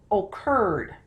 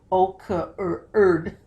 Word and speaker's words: occurred: O, look at that. Curd. O stands all alone. It only has two syllables. It's not o-curd.